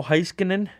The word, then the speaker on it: Heiskanen: The Central Division, Patrick Kane's playing, Nathan McKinnon, the captain, Mikko Rantanen, Ryan O'Reilly, Blake Wheeler, Mark Scheifele, Miro Heiskanen, yep, that's how you say it, Roman Josi, Devin Dubnyk, Pekka Rinne.